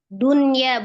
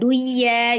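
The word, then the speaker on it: دنيا: Jadi dibacanya jelas dunya, bukan duya gitu ya.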